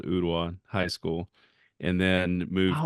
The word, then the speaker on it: Ooltewah: Yeah, people pronounce it wrong all the time. They say Ultiwa, Ultu, it's an Indian name. And but yeah, Ooltewah, Ooltewah.